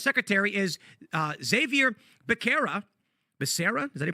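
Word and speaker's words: Becerra: the current HHS secretary is uh Xavier beera Basera does any pronounce it Basera yeah he is a lawyer former AG of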